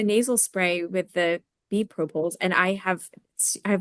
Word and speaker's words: propolis: Not sure if it's the propolis or if it's the Everclear. Propolis. I was saying it wrong.